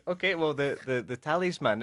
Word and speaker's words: talisman: now it's interesting that in spanish i think you have the tilde the accent over the a yes that is man you say in english it's the opposite is the first syllable tali's man talisman tell this man now uh what is